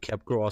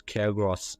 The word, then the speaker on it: Capgras: Somebody, like the few people, they do read it like Capgras syndrome, but actually the P is silent. Okay, it's Capgras syndrome.